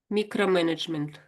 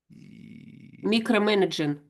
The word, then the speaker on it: micromanagement: Micromanagement. Micromanaging. Ah, micromanagement. That's it. That's it. That's it. Think of microscope.